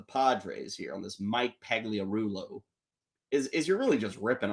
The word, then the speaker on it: Pagliarulo: Mike Pagliarulo, I think was the pronunciation. Is that right? Mike Pagliarulo.